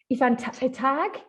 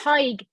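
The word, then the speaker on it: Tadhg: So it's Aoife and Tag, almost? Tig. Yeah, Tig. So it's like Tig. Yeah, Tig, you're close. Yeah. So Tig, Aoife and Tig. Tig is like pronounced like tiger without the R.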